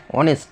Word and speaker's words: honest: অনেস্ট কথাটা কিন্তু HONESTর ক্ষেত্রে কিন্তু আমরা শুধুমাত্র ও থেকে উচ্চারণ করছি, এইচের উচ্চারণ কিন্তু এখানে হচ্ছে না, ঠিক আছে?